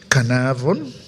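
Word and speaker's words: Carnarvon: was in canav that I must pronounce it correctly with Northern Cape accent canav yes h recently in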